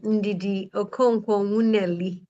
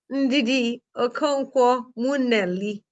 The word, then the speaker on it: Ndidi Okonkwo Nwuneli: And just to pronounce my name, Ndidi Okonkwo Nwuneli. yes, I wanted to ask you that. Say So it one more time for me. it's a bit Ndidi, difficult. Ndidi Okonkwo Nwuneli.